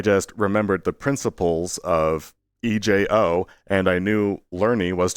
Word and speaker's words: ejo: The suffix ejo is pronounced a-o, and it becomes the place where a word would happen.